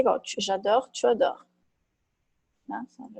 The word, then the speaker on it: tu adores: J'adore, tu adores. J'adore l'aspect technique. Je repars. Seria verbo réparer. Réparer. É reparar, né? Então fica je repars. Pega a raiz, né? E boto no tu. Como é que fica? Tu repars. Ok? Je repars, tu repars. Pronúncia igual, muda a escrita.